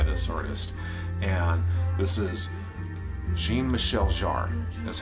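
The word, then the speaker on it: Jean-Michel Jarre: everything now by this artist and this is Jean Michelle jar is how it's pronounced absolutely mint condition and this is on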